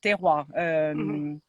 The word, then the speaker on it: terroir: Since a short time now, we can only say La Liviniere for the best land, terroir. How do you say terroir?